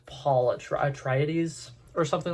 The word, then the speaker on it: Atreides: say his name because I accidentally said Paul Arthritis the other day and I got attacked for like two weeks, not 2 weeks. What? I got attacked for a while. I got a bunch of comments that were just like, that's not how you pronounce the last name.